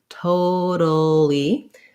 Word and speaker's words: totally: This T is going to be a flap T, sounds a little more like a D. So we think about totally. So this A is the schwa sound, and then we end up with the li syllable at the end. First syllable stress.